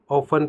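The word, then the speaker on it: often: जैसे कि आपको दिख रहा होगा इस वर्ड में ऑफ्टेन लिखा हुआ है, यानी कि इसको ऑफ्टेन ना पढ़कर हम क्या पढ़ते हैं, ऑफन पढ़ते हैं।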